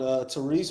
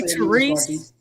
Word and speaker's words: Tyrese: I called Tyrese Maxey. I give you Tyrese Maxey. Okay, did you say Tyrese? I'm gonna need you to say Ty a little bit heavier. You know what I'm saying? Not Tyrese.